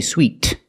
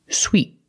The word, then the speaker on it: sweet: Sweet in both words we use the long e sound like in green beans the top and the bottom of the mouth are very close together e e sweet and the t is a stop T sweet I do not say sweet I stop the air with my tongue and make a stop T sweet sweet these